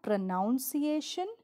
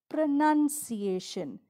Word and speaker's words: pronunciation: It's not pronunciation, but pronunciation.